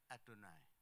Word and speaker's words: YHWH: Dan itu pun tidak berani membaca Yehova, membacanya Adonai.